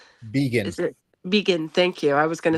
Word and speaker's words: Begin: How is his last name pronounced? Vegan. Is it Vegan?